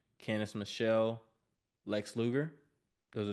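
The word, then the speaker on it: Candice: I want to give a shout out to cenace Michelle sorry Michelle McCool but kenice Michelle was I'll tell you that was uncool what was uncool you getting her name wrong shout out to Candace Michelle again Michelle M I apologize for getting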